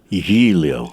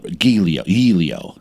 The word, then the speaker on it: Giglio: So beforehand, I'll go over the name pronunciation. And this one wasn't good. But Giglio. Giglio.